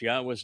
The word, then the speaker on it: Yahweh: The first statement reads, Yahweh. Okay, once again, Dode was 3,000 years ahead of the mother goddess Click, and that he knew and used Yahweh's name.